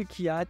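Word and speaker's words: Kvyat: on va accueillir Dany Kiat et maintenant je sais comment on le prononce c'est Kiat voilà si vous aviez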